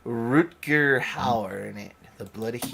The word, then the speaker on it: Rutger Hauer: Rutger Hauer.